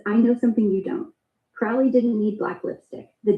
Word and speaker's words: Crowley: Alistister Crowley. Last name is pronounced like Crow.